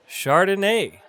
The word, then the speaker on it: Chardonnay: So at the top of the list with the whites, we have Chardonnay.